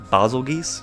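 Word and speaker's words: Bazelgeuse: next up we've got I know people pronounce this name a lot of different ways but I'm pretty sure the only time I've heard it pronounced and like an official game was M Hunter Stories 2 and they said bosle geese so that's we're going to roll with I know some people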